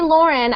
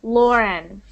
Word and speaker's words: Lauren: that is pronounced not whenever you see Au like that Au you do not pronounce the U do not pronounce the U you pronounce Au u sounds like O Okay so austr Australia